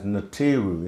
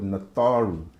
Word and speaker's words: Natharu: Many know as Natiru in ancient Egypt, but that's a rendition or pronunciation failure of the word Natharu.